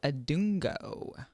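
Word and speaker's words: Adongo: I have one of my arms for this week, Daniel Adungo.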